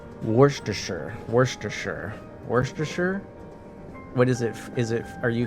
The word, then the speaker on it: Worcestershire: Like, you know, at least I don't say Worcestershire. I know it's supposed to be 3 syllables.